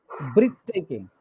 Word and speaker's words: breathtaking: The first syllable. Breathtaking. What's this? Breathtaking. Breath. Not breathe, breath.